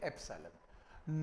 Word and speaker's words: epsilon: Symbol का नाम है, प्रोनाउंस करते हैं इसे एप्सिलॉन।